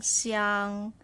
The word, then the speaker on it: 想: Xi yang xiang, xiang xiang xiang, xiang. Third tone, we stop here. Xiang, xiang. So third tone, you're going down and up, right?